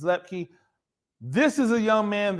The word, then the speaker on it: Luepke: Two numbers, two words, number 44, Hunter Leupke. And excuse me if I'm pronouncing the name wrong, I believe it's Luepke.